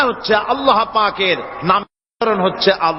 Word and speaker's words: আল্লাহ: আল্লাহ আল্লাহ পাকের উচ্চারণটা হচ্ছে আল্লাহ পাকের নাম হচ্ছে আল্লাহ আল্লাহ মুখটা একটু গোল হয়ে যাবে বলেন আল্লাহ আল্লাহ আল্লাহ